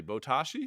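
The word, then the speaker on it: Botaoshi: stop scrolling stop scrolling bow ta tashi botashi that's how you pronounce it think jenga capture the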